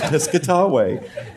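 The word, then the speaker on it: Piscataway: I don't get it it's piscatway oh and he was that's how I pronounced it too it's piscatway it's really not that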